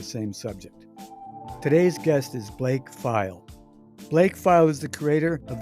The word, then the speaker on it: Pfeil: when they see it PF i l pronounced file that's right good so